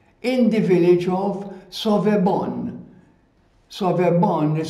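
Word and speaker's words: Sauvebonne: Sauvebon is spelled S-A-U-V-E-B-O-N-N-E, Sauvebon.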